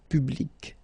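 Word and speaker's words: publique: So public at the masculine form, feminine form, public, the same.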